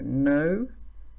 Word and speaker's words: know: in the English language, where we have the letter K, but we don't say it. It's silent. So know, knew, known. Ignore the K in the beginning.